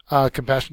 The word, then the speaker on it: compassion: one you guys know compassion is a noun second syllable it means sympathy for